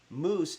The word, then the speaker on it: mousse: This is spelled a different way. M O U SS E, which I believe is French moose. M O S E is the um animal.